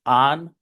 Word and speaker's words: on: No se dicen on y off. La primera es un larinate, A, y la de abajo es un open O, on and off.